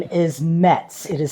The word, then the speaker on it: Muetz: My maiden name is Muetz. It is spelled M-U-E-T-Z with an umlaut over the U.